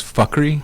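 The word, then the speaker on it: Fukry: The title is Fuckery, F-U-K-R-Y. You can say Fukri or Fakrai, so, any which way, but Fuckery is usually the way to say it, but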